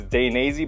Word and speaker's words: Dainese: However you guys want to pronounce it, I believe the correct way to say it is Dainese, but I could be wrong.